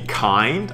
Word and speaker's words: Kind: And kind, interestingly, this word in German is called Kind. It's pronounced as Kind.